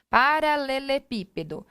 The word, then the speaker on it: paralelepípedo: Só que onde está a sílaba tônica? Paralelepípedo. Aqui. Então, última, penúltima, antepenúltima. Tá?